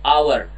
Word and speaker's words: hour: Karena mulainya bukan hour, bacanya enggak, tapi hour.